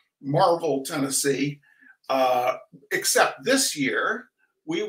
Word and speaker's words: Maryville: Spelled Maryville, but pronounced Marvel. Marvel, Tennessee.